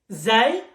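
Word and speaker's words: ز: Zay, it's exactly the letter Z. Zebra, for example.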